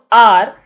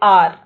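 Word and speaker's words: hour: Now, if you observe R, H is silent, right? So, when you talk, you say R, right?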